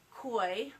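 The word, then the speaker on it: Choi: it was written by Charles coy I'm pronouncing his last name right as CH Oh aye and he has a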